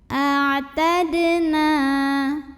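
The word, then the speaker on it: أَعْتَدْنَا: Berikutnya ada qalqalah sugro, sebab ada huruf qalqalah yaitu dal yang sukunnya sukun asli dan ada di tengah bacaan. Maka dibacanya dipantulkan dengan pantulan yang kecil. A'tadna. Na mad tabi'i sebab ada alif yang didahului fathah. Cara bacanya dipanjangkan 2 harokat.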